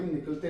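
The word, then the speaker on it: neck: के एन ई सी के, नेक, के साइलेंट यहां।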